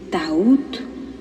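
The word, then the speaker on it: Thoth: es un hombre llamado tot se abren comillas algunas personas dicen ta Pero él lo pronuncia tod se cierran paréntesis los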